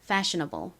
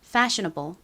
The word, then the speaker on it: fashionable: fashionable 같이 해 볼까요? 앞에 부분을 세게 발음해 주세요. fashionable. fashionable 좋습니다.